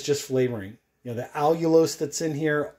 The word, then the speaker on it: allulose: flavoring you know the allulose that's in here all you lose remember that's how it's spelled is a sweetener that